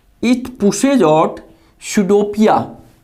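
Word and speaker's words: pseudopodia: It pushes out सुडोपिया, पी यहाँ silent है, सुडोपिया around the food particle and engulf it.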